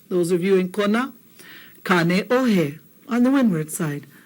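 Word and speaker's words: Kāneʻohe: Kane Ohe. On the windward side. Kane Ohe.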